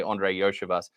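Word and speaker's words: Andre Iosivas: The first time I saw that, I wanted to pronounce it completely differently, and I had to retrain myself, say Andre Yoshivas.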